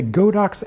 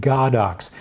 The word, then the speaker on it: Godox: Now, some pedantic people say that you should pronounce it Godox, but even if that's true, I don't care, because in the English-speaking market, Godox is a cooler name, so I'm going to